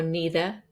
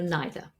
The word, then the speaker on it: neither: The same for neither, the same for neither.